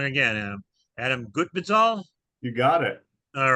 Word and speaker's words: Gutbezhal: Um, and we are really happy to have with us today Adam, and correct me if I get this wrong again, Adam Gutbezhal.